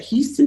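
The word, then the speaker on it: Huston-Tillotson: college and just in the same way where houston tillotson is is houston like the city that's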